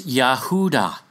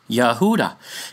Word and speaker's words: Yahuda: Funny, it's actually the exact same name as Yahuwah with a D, a Dal, a Dalit, in the middle, isn't it?